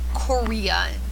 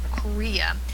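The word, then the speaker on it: chorea: sometimes refer to as Korea Korea is spelled CH 0 re a Korea which is really random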